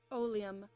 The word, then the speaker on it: oleum: winner oh liam oh liam is there a pronunciation guide oleum oleum oleum oleum oleum oleum okay got it